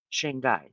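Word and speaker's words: Shanghai: how to say it and and Moscow H shang guy that's it so there you have it there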